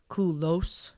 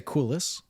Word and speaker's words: Culos: okay so first do people always want to do Co do they really want to give you like kolos do they really want to like pronounce they do yeah like all my friends would call me my last name kolos Kos having said that it's half my family a split we kind of say Kus okay and the other